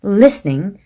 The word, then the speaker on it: listening: 다시 한번 listening, begins, 짧게, featured, weak, trees, 길게 발음을 하셨어야 됐었습니다.